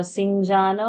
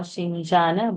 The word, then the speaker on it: शिञ्जान: So Sinjana or Shinjana, both pronunciations are correct.